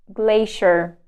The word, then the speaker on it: glacier: the next one is glacier glacier it's not see here a glacier glacier okay next one